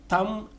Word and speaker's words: thumb: solomon summon and lastly thumb and dumb the letter b in both words are silent i've seen the movie